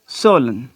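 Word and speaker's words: solemn: एक और वर्ड है सोलन। सर अब ये वर्ड है। अब यहाँ पे देखें कि N से पहले जब भी M आएगा तो क्या होगा कि N जो है वो साइलेंट हो जाएगा, उसकी अपनी आवाज़ नहीं होगी।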